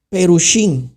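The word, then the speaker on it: פרושי: Los fariseos vienen de una palabra hebraica. que significa perushí. Así se dice en el hebreo.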